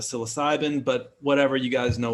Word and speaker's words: psilocybin: I think it's true, but the correct pronunciation is psilocybin instead of psilocybin.